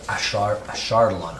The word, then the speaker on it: Ashardalon: Ashardalon.